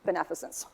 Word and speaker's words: beneficence: So if you can just remember maleficent, then you know how to pronounce the rest of it, right? Because maleficence, so forth, beneficence.